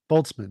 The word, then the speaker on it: Boltzmann: Boltzmann. The word you were Boltzmann. imagining is What's a the correct Boltzmann brain.